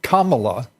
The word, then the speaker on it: Kamala: story keeps progressing uh Kamala I I'm told is the correct pronunciation for Senator Harris uh and Diane Fein